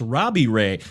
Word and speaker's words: Robbie Ray: r oh close uh it rhymes with gray it's robbie ray check out the gps